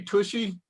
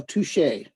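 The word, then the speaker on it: touché: Didn't he say tushy? No, touche.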